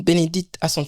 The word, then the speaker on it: Bénédicte: vais panz vraiment il s'agit comme ça de Benedict c'est ça oui oui en fait tu es la première personne de bien prononcer mon nom oui oui il y a